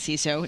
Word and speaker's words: CISO: Pronounced as CISO, not anything else.